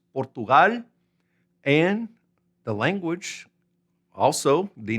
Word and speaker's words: Portugal: Now, let's go over to Portugal, which in Spanish is the same thing, but it's pronounced Portugal.